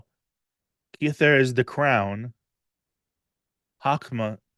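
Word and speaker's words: Chokhmah: kther is the crown hakma or I guess it's chakma I'm used to reading things with in Irish pronunciations chakma is wisdom and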